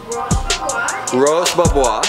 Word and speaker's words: Roche Bobois: Roche Bobois, that's how you pronounce it.